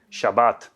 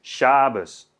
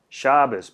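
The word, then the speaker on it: שבת: palabras que seguramente conozcan shabat en asen en ashkenazi es shabes shabat shabes por qué Porque la tav esa sin dages se pronuncia como una s entonces veet pasa a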